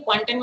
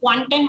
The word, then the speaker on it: content: It is content mastery. It is not content mastery. Please ensure you use the correct pronunciation. Right? Content is a noun. Content is content is a noun. Content is a verb.